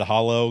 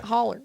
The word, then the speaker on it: holler: I said hollow because that's how it's spelled. Yeah. Yeah, holler. Yeah, but we say holler.